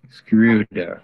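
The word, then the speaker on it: Schröder: hear from you how is your last name pronounced screwdriver screw there okay thank you and just a follow-up question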